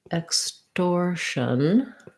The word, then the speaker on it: extortion: a word so extortion extortion sounds like extortion it's actually an x sound because it has stress on the tor ex store true or shun extortion i'm not spelling